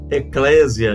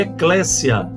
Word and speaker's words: Eclésia: existe essa pronúncia é eclécia Ok é Eclésia ou eclecia né como alguns preferem devido ao acento então Eclésia eclecia Ok é sempre SS nunca tem som de z como em desejo de z desejo Tá